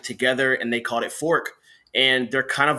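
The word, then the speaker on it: Forq: really weird but it's a band called fork which is spelled fo RQ and it got started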